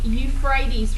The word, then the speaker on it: Euphrates: This is the Euphrates River. E-U-P-H-R-A-T-E-S. I'll spell it again. Right here. Hang on. Let me erase some of this. Okay, the Euphrates. E-U-P-H-R-A-T-E-S. The Euphrates River.